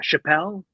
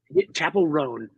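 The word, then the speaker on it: Chappell Roan: chavel Ron chav rone Chapel rone yes which we always want to say Chappelle rone yeah yeah Dave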